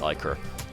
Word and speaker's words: Ichor: Like, it's so hard for me not to pronounce it Ichor Walker, because in my world, I would have pronounced it Ichor, but apparently even native speakers have told me it's Ichor.